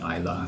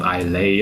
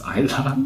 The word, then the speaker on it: Islay: And we just found out the pronunciation is really indeed Islay. So it is not Islay or or something, I don't know, but it's Islay, right?